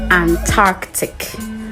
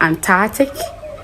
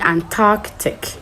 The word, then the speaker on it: Antarctic: So you need to keep the C sound in between the R and the T. So it's not Antarctic, but actually Antarctic. So you pronounce it as in you spelling ant and arc before you add the tick to it.